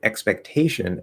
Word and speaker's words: expectation: okay explanatory expectation okay now in expectation expectation i think it gets secondary stress which is okay secondary